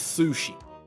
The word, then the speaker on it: Sushie: Her name is Sushi. It's spelled Sushie.